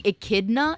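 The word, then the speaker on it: Echidna: You're saying Ikidna? It's pronounced ikidna.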